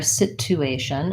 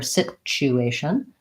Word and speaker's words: situation: situation government and alright situation is a great one because a lot of people miss the hidden sound and this word as well so just like graduate or grad you Asian situation also has a hidden safe CH sandwich so I often hear situation and I really want to hear situation so if I have